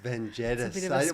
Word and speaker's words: Vengetas: vetus vanus. I wasn't sure if you pronounce the "s" at the end, but you do.